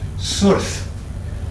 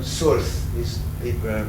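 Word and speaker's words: סורת: at the top there, that changes it from a consonant, a V sound, into an O, to an O or a U. So Surth results.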